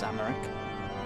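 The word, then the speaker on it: Aymeric: It was Amaric. That's how you pronounce him.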